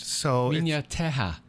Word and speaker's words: Minha Terra: Portuguese, in Portuguese, it's a little weird because their H actually has a Y sound. Nice. And when you put two R's together, it has an H sound. So Minha Terra.